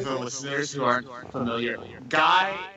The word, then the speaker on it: Gai: So I also want to clarify that for the listeners who aren't familiar, Gai, his name is spelled Gai, not like oh, you're a guy, G-U-Y.